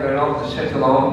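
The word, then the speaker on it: Renaud de Châtillon: Terus penjahatnya namanya Reynaud de Châtillon, bacanya Reynaud de Châtillon gitu ya.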